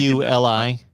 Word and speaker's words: Iuli: Yeah, it's Iuli. Definitely don't know how to spell it. IULI.